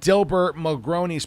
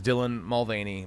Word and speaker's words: Dylan Mulvaney: Light cans that had Dilbert Mulroney's pictures on it. And I know the name is Dylan Mulvaney, but I like saying it wrong.